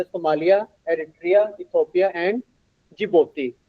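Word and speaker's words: Djibouti: Mallya Adria Ethiopia and जिबोती आपने डीजेबत्ती नहीं कहना है जिबोती कहना है डी साइलेंट है इसमें जिपोती कहना है आपने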